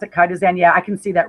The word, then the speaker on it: chitosan: So what I came up with was chitosan.